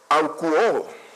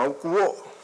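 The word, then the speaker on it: ἀκούω: Y esa palabra oiga viene del griego bíblico aukuo, algo así se podría pronunciar, como aukuo.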